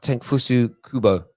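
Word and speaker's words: Takefusa Kubo: Is it pronounced Tenfusu Kubo?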